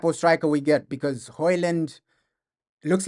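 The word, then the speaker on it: Højlund: I think I think it's pronounced Hoyland. I heard him saying it on Instagram. He pronounced his name. He's pronounced Hoyland. I think that's how you pronounce it. I think that's how you pronounce Hoyland.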